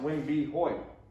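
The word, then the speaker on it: Wm. B. Hoyt: william b hoyt but because he signs it w m b hoyt it's pronounced wing b hoyt so a beautiful painting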